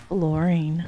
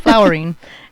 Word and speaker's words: fluorine: It's not flowering. It's not. That's not how you'd say flowery.